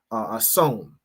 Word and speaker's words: Samhain: Halloween has its roots in the ancient Celtic festival of of hon, right, is how it's pronounced, which marked the end of summer and the harvest and the beginning of winter.